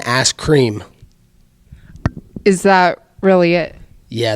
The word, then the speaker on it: Askren: that fight going oh you said his name backwards you said it wrong it's been a scream is that really it